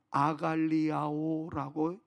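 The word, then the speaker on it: ἀγαλλιάω: 그런데요 기뻐하다의 헬라오를 보니까 발음이 조금 이상하게는 합니다만는 아갈리아오라고 이야기를 합니다.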